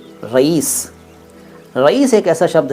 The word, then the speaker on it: रईस: और कई लोग तो रहीश कहते हैं, रहीश, रहीश अहमद ना। सही शब्द है रईस, रईस। साउंड जो मैंने बोला वो आपने सुन लिया ना, वही उच्चारण है, रईस।